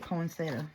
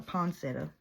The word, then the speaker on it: poinsettia: We say it poinsettia or poinsettia. That was my Granny Crab's favorite flower. She loved them. So, and I've heard it say poinsettia, poinsettia, poinsettia. You know, just everybody pronounces it different. I guess it's just wherever you're at in the country.